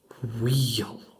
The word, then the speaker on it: wheel: So big B-I-G wheel, wheel, w. Oh, and then there's a silent h in wheel.